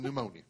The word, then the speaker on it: pneumonia: the is there a pee in front of pneumonia because guess what putting